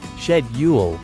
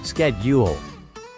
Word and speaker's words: schedule: the same for example schedule in British English is pronounced shedule while in American English it's schedule let's explore some other